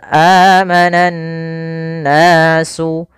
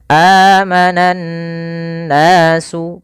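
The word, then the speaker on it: آمن الناس: Cara membacanya adalah kita menahan suara nunnya. Amanan nasu. Kesalahan yang terjadi tidak menahan gunnahnya.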